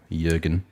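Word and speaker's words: Jürgen: and i just j j silent j jurgen so we got roscoe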